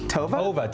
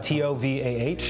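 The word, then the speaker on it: Tovah: Tova? T-O-V-A-H. Ooh. T-O-V-A. E pronounced Tova.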